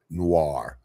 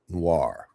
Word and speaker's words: noir: Noir. Noir. Noir. Noir. Fil. Noir. Renoir. Say, say Renoir. Right. Renoir. Same way. Noir.